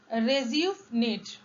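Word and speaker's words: rejuvenate: रिज्यूविनेट, यस, इसका complete जो correct pronunciation है वो है रिज्यूविनेट।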